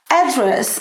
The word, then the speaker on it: address: So you put the stress on the first syllable. Você põe a força, a sílaba tônica na primeira sílaba.